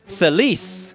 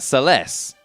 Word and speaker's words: Celes: her name is pronounced Celes, not Celes. So, I don't know. It looks like it says Celeste because if you just stick a T-E on it, it says Celeste, right?